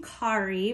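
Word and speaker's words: Cari: artist friends Carrie Compton you actually say her name Kari but it's spelled c-a-r-i and she is with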